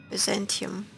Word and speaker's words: Byzantium: automated there not that i'll ever find out byzantium that's how you pronounce it in english it's for the story